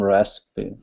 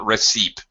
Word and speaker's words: recipe: normal English rules so first syllable stress recipe re recipe it's a little bit strange it doesn't follow normal patterns recipe not receip even though that's what